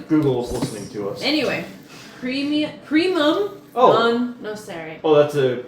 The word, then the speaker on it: primum: Okay, it says, primum, P-R-I-M-U-M. Oh, P-R-I-M-U-M. primum, not premium.